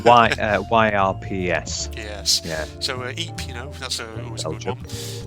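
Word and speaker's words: Ypres: It's pronounced Ype. Ype.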